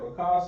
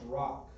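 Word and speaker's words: רק: Rakah sounds good, but this is going to be pronounced rock.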